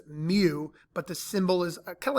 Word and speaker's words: mu: It's a Greek letter pronounced mu, but the symbol is kind of like a U with a long tail in the front.